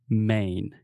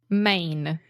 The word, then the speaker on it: Maine: it yeah I mean it's the same way that we say main right just like Main Street or the main point